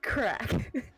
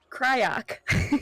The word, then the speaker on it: Craic: pronounced crack. You what? I thought it was like cryoc. Oh my God! Right, it's crack. It's crack.